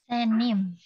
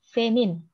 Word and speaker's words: senin: Senim. Iya, senin. Pakai N ya. Senim. Senin. Oh, senin. Senin. Pakai N belakangnya.